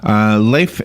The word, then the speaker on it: Leif: Leif, good morning. And first is how am I doing with your name? Is it Leif or Leif? It's Leif.